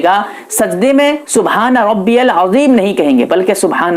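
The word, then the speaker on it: العظيم: یا سبحان ربی العظیم زا پڑھتے ہیں یا جیم پڑھتے ہیں، نماز آپ کی ختم ہو جائے گی، فاسد ہو جائے گی۔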